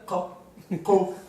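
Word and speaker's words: qof: So the reason and it's a uvular, kof.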